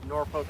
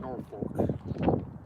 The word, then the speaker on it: Norfolk: It is not Norfolk. Norfolk. It's Norfolk. Norfolk. Yeah, right. You go to England where Norfolk came from.